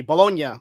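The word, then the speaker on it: Bologna: to be in Italy bolognia that's how you pronounce it people bolog Italy um so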